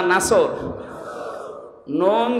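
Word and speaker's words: نصر: নুন সোয়াদ র। নাসরুন শব্দের শাব্দিক অর্থ হচ্ছে সাহায্য, আর নুন সিন র নাসর মানে ঈগল পাখি। এই জন্য যারা এই সূরাটা পড়তে গিয়ে সোয়াদ না বলে সিন দিয়ে উচ্চারণ করেন, আপনার কিন্তু নামাজ হবে না।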